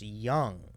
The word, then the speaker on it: Duong: board um oh yeah with your last name I've never we've never seen that silent D because people are going to see your name uh d n g it's pronounced young where does this I've